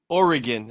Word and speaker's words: Oregon: I think it's I've been told from people that live there that it's Oregon. Oregon, not Oregon.